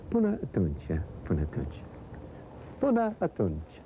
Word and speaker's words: Până atunci: Până atunci. Până atunci, yeah.